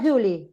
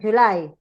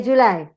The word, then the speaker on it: July: Not Julie, right? July. We say July.